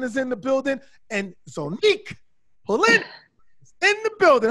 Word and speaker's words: Zonnique: Yes, it's Zonique.